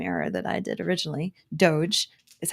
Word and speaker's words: DOGE: out about Elon Musk and what she called doggy so she made the same error that I did originally doge is how you pronounce it Heather uh she flipped out about